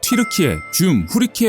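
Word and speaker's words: Türkiye Cumhuriyeti: 크락 5 부르고 있습니다 터키 공화국 은 현지 발음으로 치르 키 해 준 후 리 케 와 같이 있습니다 그렇기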